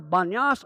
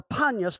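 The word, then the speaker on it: Banias: to this day is called either banyas or panus depending on the pronunciation of the dialect and it's traditionally called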